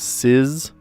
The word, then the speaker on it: SZA: The singer SZA's name SZA, often broken down as Siz, Siz, S-I-Z, Siz.